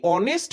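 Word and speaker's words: honest: হচ্ছে এইচ তো কনসোনেন্ট আমরা জানি এইচ এর উচ্চারণ হচ্ছে হ রাইট কিন্তু এই অনেস্ট ম্যানে অনেস্ট লেটার অনেস্ট ম্যানের যে অনেস্ট শব্দটা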